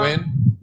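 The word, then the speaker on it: Nguyen: cost much appreciated Mr win I'm Mr win too if you can tell by my eyes I brought this because I heard but it's spelled nguan been sitting on I've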